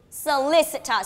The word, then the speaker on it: solicitor: now listen again and tell me the position of the stress solicitor so where is the stress yes the second syllable solicitor so who is a